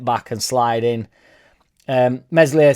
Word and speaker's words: Meslier: and slide in um meslier silent s ultimately soft for the